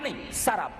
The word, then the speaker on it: سراب: میراج میں سراب، اس کو بعض لوگ سراب پڑھتے، غلط ہے وہ. قرآن حکیم نے جو تلفظ بیان کیا، جو پروننسیشن، وہی صحیح پروننسیشن ہے. سراب، شراب نہیں، سراب.